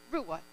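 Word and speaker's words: רוע: noise instead of shout the hebrew word translated shout for joy is rua it is spelt r-u-w-a pronounced rua it means to raise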